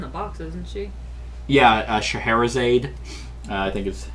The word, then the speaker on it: Scheherazade: Yeah, Scheherazade, I think is how you pronounce it.